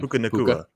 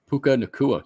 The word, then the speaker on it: Puka Nacua: Does anyone know how to say his name? Puka Nacua. Puka Nacua. He was elite with the pronunciation.